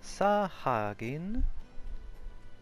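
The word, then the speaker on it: Sahagin: come from the sahaja saw Hagen is how you say that babe it sounded pretty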